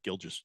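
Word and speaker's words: Gilgeous: letters just to see gilges some extra letters in there Shay gilis Alexander yes the U is silent I am never silent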